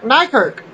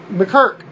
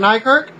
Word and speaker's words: Nykirk: WWE developmental talent Derek Nykirk. The announcer mispronounced his name is McKirk, or Mykirk. Well, Nykirk was suspended a